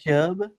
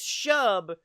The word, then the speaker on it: Shub: Okay, Chub? it's Shub, and then the last name is spelled Niggurath, and I'm not gonna say that.